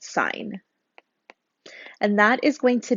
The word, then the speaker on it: sin: first three letters uh we don't pronounce this as sin it's sine of x okay then we also